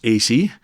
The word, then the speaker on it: AISI: renamed AI Security Institute, AISI, or pronounced AC, it said that they are the best in the world in figuring out ways in which AI models might fail.